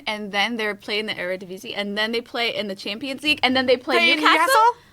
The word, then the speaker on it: Eredivisie: pronounce it? This is not helpful to me, though, in my journey Eredivisie.